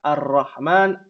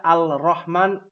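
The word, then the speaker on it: الرحمن: Iya dalilnya jelas ya dalam surah al-fatihah ar-rahman ar-rahim nggak ada Al Rahman Al Rohim enggak ada karena dia huruf Syamsiah jadi otomatis tuh ya kaidah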